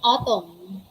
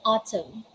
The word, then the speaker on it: autumn: we just say solid we don't say atom we say autumn again take it out